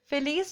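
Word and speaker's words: Phyllis: फिलीज जो है, या हम फाइलीज भी बोल सकते हैं इसको, जैसे भी आप प्रोनाउंस करें, वो लोग फाइलीज प्रोनाउंस करते हैं।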